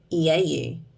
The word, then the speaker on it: Nouveau: It's Nouveau. So EAU is in beautiful, where it makes the U sound, so view. I think it's Nouveau.